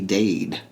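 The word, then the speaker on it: Daid: And it's spelled D-A-I-D, Dade. It's like phonetically with the accent.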